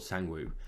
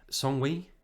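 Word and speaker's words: Sang-woo: okay in english uh phonetically he's called sangwoo right songwei that's not right right is it it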